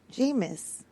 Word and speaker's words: Jameis: Jameis.